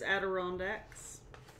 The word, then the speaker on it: Adirondacks: I believe it's Adirondacks. Like the chair.